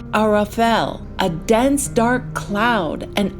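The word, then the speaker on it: ערפל: And that word in Hebrew is pronounced Arafel, a dense dark cloud, an unknown space that shields Yah's presence.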